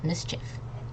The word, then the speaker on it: mischief: So it's not mischief, although over here it says E. Over here it says it. Okay. So this E does not pronounce itself, so it's mischief. Like Mr. Chiff or mischief.